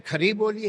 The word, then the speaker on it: खड़ी बोली: है, दिल्ली तक है, खड़ी बोली। खड़ी बोली उसे कुछ लोग कहते हैं खरी बोली है, मगर मुझे लगता है खड़ी बोली होगा, इसलिए कि इसके जो आ हैं वो बड़े प्रोनाउंस हैं।